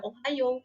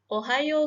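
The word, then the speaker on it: おはよう: dan hiragananya itu kan tulisannya Ohio Nah bukan berarti kita membacanya itu atau cara bacanya itu juga Ohio tapi yang tepat itu menggunakan huruf a di Ohayo gozaimasu itu Hai Petrus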